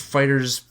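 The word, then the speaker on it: FighterZ: Like Fighter Z is like one of the greatest fighters out there, right? Like it's freaking gorgeous. It's pronounced actually fighters.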